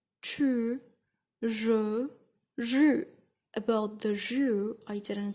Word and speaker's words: jus: About the jus, I didn't say what it is, but it's actually juice. Okay, it's the juice. You say in French, jus, but it's really, really hard to pronunciate it while you're American or English.